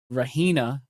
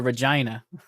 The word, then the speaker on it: Regina: And I believe you pronounce her name, Rahena Tyne. Now, I would have called her Regina. Regina Tyran tan to tan or something. But it's Raa Tyne.